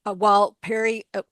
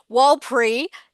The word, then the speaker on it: Warlpiri: Millie, Warlpiri, let me get that correct. I feel terrible. I just learnt how to say this lovely name. Warlpiri teenager.